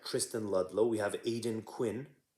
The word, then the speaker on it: Aidan: We have Aidan Quinn. I think that's how you say his name. It's not Aiden, right?